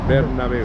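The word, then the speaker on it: Bernabéu: Did I pronounce Bernabeu. properly? That's it, Bernabeu.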